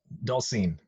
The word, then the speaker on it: Dolcine: Did I pronounce the last name correctly? Dolcine. Docine.